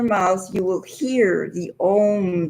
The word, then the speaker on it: Om: So knowing that, and it's pronounced when you blend it all together, it comes out Om.